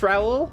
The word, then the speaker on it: Raul: Is it R or Raul? I don't remember. I know we had this same the same conversation yesterday. You guys would have told me if I'm saying it wrong all this time again, right? Right. I mean, you guys didn't actually tell me I up. It's Raul. Okay, good.